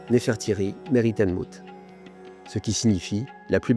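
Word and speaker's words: Nefertari Meritmut: Donc ça s'écrit comme ça et ça se prononce Nefertry Meritan Mout ce qui signifie la plus belle de toutes et de mouth.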